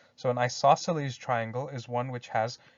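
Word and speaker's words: isosceles: in the middle here we've got this weird looking word but it's pronounced isoceles so an isoceles triangle is one which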